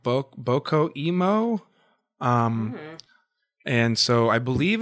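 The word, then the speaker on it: BOCCO emo: But it's spelled B-O-C-C-O and then Emo. And the Emo is supposed to be like emotional.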